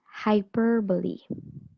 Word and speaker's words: hyperbole: it's pronounced as hyperbole okay so the stress is on the second syllable so it means an